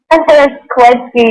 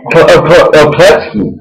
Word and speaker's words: Kloetzke: Kloetzke, the O is silent. Kloetzke. Oh, really? Okay. So now, is that Polish or is that where's that from? It's actually German. The last part is EKE.